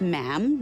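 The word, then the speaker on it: ma'am: majesty and after that it's just mam rhymes with jam and it's always a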